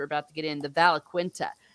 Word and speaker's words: Valaquenta: Valaquenta? Yes. So, and what the Valaquenta is, Quenta, is the mythology of what we've seen from what the elves knew.